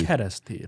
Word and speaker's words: Kerestir: how do you pronounce Kristir? Kerestir.